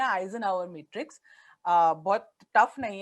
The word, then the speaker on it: Eisenhower: यहाँ पे दूसरी टूल है, एक मैट्रिक्स है, इसको हम कहते हैं आइजनहावर मैट्रिक्स।